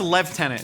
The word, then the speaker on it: lieutenant: Would you consider yourself the lieutenant of Mythical Kitchen? It's pronounced "la-tenant", if I learned anything from Inglourious Basterds.